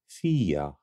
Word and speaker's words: Fiadh: do you say this name this name is pronounced FIA FIA FIA FIA FIA thanks for watching check